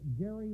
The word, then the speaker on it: Gerry: he pronounced his name gary with a hard g but for reasons unclear